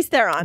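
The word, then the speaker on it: Theron: her name uh Charlie Thon that's the one yeah is it Thon or Thon how do you pronounce her last name theren Charlie okay uhuh all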